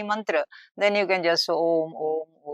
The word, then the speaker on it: Om: pronunciation isn't it yes Om if I to say there is one way is u m so you have to say o then u then like that uh but that is